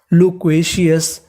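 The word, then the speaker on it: loquacious: CI, इसे क्या पढ़ेंगे सी, तो पूरी मीनिंग लो क्वे सी अस, लोक्वेशियस, लोक्वेशियस का मतलब होता है बातूनी, यानी जो ज्यादा बातचीत करता है तो उसे हम लोग इंग्लिश में कहते हैं लोक्वेशियस।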